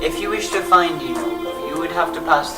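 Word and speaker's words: Yeenoghu: Inogu. Yinogu.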